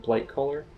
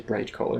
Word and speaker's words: Blightcaller: I always have a problem pronouncing his name. Nathanos Blightcaller. I was going to say Brightcaller.